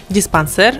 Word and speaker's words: диспансер: Место ударения также зависит от происхождения слова. Многие заимствованы из других языков, большинство из французского, и ударение сохраняют на последнем слоге – диспансер, жалюзи и прочие.